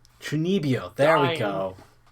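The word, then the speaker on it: 中二病: Yeah, I looked it up, and apparently it's pronounced Chunibyo. Chunibyo, there we go.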